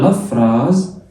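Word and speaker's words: la phrase: الاس من حرفين متحركين، اكتب عندك القاعدة دي. الاس لما تيجي بين حرفين متحركين تتنطق زد، الاس لما بتيجي بين حرفين متحركين بتتنطق زد. جميل. تبقى لا فراز، لا فراز، لا فراز، فراز اللي هي فراز. وحرف ال اللي في الاخر طبعا ما بيتنطقش.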